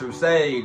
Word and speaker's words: Rustage: Dear Rustage, yes, it's pronounced Rustage.